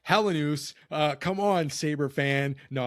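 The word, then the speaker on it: Helenius: It's like Consta Helenas. Helenus. It's pronounced Helenus.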